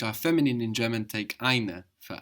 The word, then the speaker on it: ein: So ein is spelled E-I-N. We know this E-I gives us the I sound.